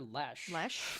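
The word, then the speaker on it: Lesh: Caroline and I keep calling her Dr Lee for some reason and it's Dr Les which is which is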